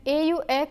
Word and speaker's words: aux: lay contracts - they au and aux are both pronounced as oh but au precedes a singular noun while aux precedes a plural noun now let's see how